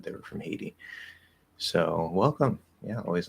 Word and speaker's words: Haiti: do you say haiti i think we call it haiti i want to say heidi because i'm like i'm sort of mixing like the spanish and the english pronunciation and flapping the d there um i think yeah we just say haiti uh yes welcome welcome